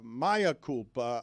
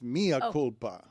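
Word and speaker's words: mea culpa: Uh, I don't think it's uh Maya Koopa. I think it's Mia Kulpa. Oh yeah, Mia. It's actually Latin, not Spanish.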